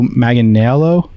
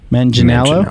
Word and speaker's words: Manganiello: be honest with you i always get his name wrong joe magnelo megan male man janello manginello there we go as max fist skylin brooks